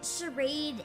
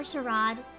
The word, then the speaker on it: charade: hole oh no but it's not pronounced charade in my opinion in this case I you can I've seen it pronounced both ways charade or Sharad in this case Sharad feels fancier in which case I'mma use charade all right shall we